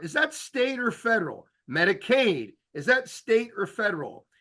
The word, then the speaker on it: Medicaid: word State and Aid so Medicaid almost rhymes with State Medicaid is State Medicare